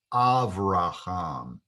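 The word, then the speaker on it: אברהם: abraham is pronounced that way in hebrew it's pronounced avraham the name jacob is pronounced in hebrew yakov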